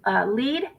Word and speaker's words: Lead: out um it says leed south dakota that is the exact same spot damian wasn't it because we were pronouncing it lead and people were correcting us it is legal south